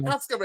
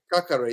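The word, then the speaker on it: Caqueret: But I like that Cascare. I like that. Is it Cascare? Is that his name? Who? Cascare? The kid from Lyon. How do you pronounce Kakare. Kakare. Kakare, yeah. Kakare. I prefer Kakare, 100%.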